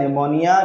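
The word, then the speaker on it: pneumonia: का मतलब होता है निमोनिया जिसमें पी साइलेंट होता है ल का मतलब होता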